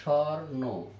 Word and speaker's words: স্বর্ণ: শব্দে যদি দন্তস্ব থাকে যেমন স্বর্ণ, তাহলে উচ্চারণে হবে স্বর্ণ। একটু খেয়াল করতে হবে, এটা দন্তস্ব দিয়ে শব্দটা, কিন্তু উচ্চারণে হলো তালব বসা স্বর্ণ। একটু চন্দ্রমন্দিরে বিন্দুর মতো উচ্চারিত হয়।